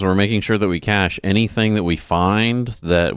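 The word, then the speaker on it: cache: It's it's a the ch at the end is pronounced like an sh.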